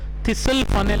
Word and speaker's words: thistle: It is called thistle funnel experiment. We don't say thistle funnel, we call it a thistle funnel. Okay, where T is silent there.